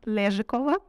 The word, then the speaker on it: Lezhikova: Yeah, sometimes I'm called the because no one can pronounce my last name. It's okay. Just in case, I'm Lezhikova. It's Russian surname.